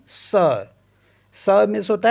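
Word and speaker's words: sœur: अ for example जैसे एस ओ ई यू आर इसको पढ़ते हम सर सर मीस होता है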